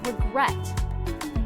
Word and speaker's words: regret: about the verb regret which syllable is stressed listen again regret the second syllable is